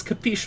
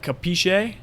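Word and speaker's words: capisce: what does capish mean well it's actually more like capiche or cap capichi um you know because in Italian you pronounce every single letter the all those Italians where they like drop off the the letter at the end that's like Italian American but anyway capishe means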